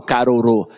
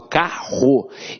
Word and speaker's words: carro: eu tenho um vídeo eu não falo caro eu falo carro então esses dois erres